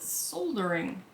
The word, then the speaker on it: soldering: much soldering none in in parts of the world that speak english that are not america they call it soldering because that is how it's spelled why do you not